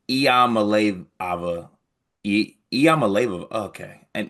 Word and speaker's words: Iamaleava: And let me I found the pronunciations Iamaleava. Iamaleava.